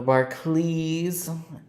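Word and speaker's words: Barclays: let's see right here Aviator Barkley CLE even though it's spelled Clays The Bar CLE um Advantage Aviator cards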